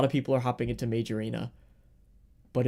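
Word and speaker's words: Mage Arena: major arena is, spell it m a g- e space arena because it sounds weird when you say it all. It sounds like one word.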